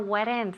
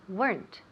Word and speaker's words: weren't: Weren't has one syllable. Please, I'm tired of hearing weren't. Please, no more weren't. That's typical Spanish. Remember? So we don't want that. We want weren't.